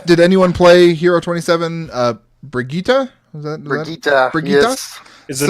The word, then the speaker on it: Brigitte: Brigitte? Brigitte. Brigitte? Yes. Is it not Brigitte? No, It's that's what it Brigitte. It's Yeah. the German pronunciation, apparently. yeah. So I'm still going to call her Bridget because I'm not saying